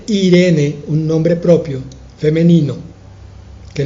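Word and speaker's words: εἰρήνη: con té e irene y hoy hoy la pronunciamos como simplemente irene un nombre propio femenino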